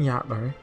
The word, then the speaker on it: Jotnar: this is one of those cases where the J is pronounced Y, right? I'm just making sure. Like in Fata Morgana. Although I think that might actually be more of an H, right? Wait, maybe a Y.